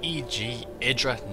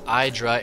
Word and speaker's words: EGIdrA: In the top right we have EGIdrA, not EGIdrA. It is not pronounced EGIdrA, Artosis, Day 9, Tasteless, whoever. It is EGIdrA, specifically EGIdrA.